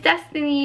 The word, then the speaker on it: Destiny: destiny and a lot of times people think my name is Bethany or Stephanie clearly I have a problem with pronunciation and enunciation of my words because it's just like a weird name to say and so I'm always like it's destiny with a D and that's why I